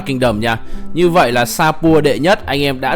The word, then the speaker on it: Shapur: Hôm trước thì mình đọc con này là sa nhưng mà hình như bây giờ tôi mới thấy là con này đọc là Sapur mới đúng.